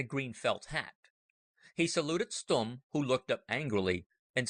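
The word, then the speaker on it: Stumm: grin why is Colonel stum he cried he pronounced it like the first syllable in stomach very pleased to meet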